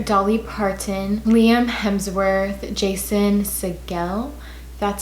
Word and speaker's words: Segel: James, Meghan Trainor, Dolly Parton, Liam Hemsworth, Jason Segel, that's how you pronounce it, Mary J.